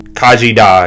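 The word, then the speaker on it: Khaji Da: voiced the uh the little AI girl um Kaji da yeah that's how you pronounce it um that was the alien artifact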